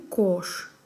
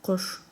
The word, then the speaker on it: кош: Мы не говорим кош, мы говорим кош. Кош. Данная буква О произносится близко к букве Э. Что-то между О и Э.